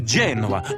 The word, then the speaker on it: Genoa: you know a salami no no it's genoa emphasis on the j okay gotcha genoa salami